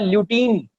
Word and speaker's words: lutein: अब इस corpus ल्यूटियम के अंदर जो फॉलिकुलर सेल्स हैं, उनके पास होता है एक पिगमेंट जिसका नाम है ल्यूटीन. क्या नाम है? ल्यूटीन.